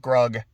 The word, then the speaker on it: Grug: he's like you know hug it rhymes with grug it's a really sweet moment and then he eats her and then he's by himself and you spend a few minutes of grug by himself going into